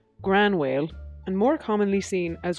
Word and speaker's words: Gráinne Mhaol: to which Jessica replies groan your whale typically pronounced as gran wailed and more commonly seen